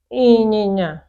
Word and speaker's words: ịnyịnya: Ịnyịnya, ịnyịnya, nye, ịnyịnya. That's horse. Okay? These are the words you pronounce with nose.